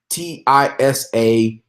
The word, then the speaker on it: Tisakorean: It's Tisa Korean, and literally his name it's TISAKOREAN.